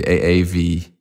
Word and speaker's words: Aave: I hope I pronounce it correctly. AAV.